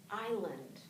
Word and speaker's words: island: a great example that in English s does not always say s ometimes it's silent like here in Ireland right